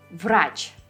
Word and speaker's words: Врач: Врач. V sounds as V. Врач.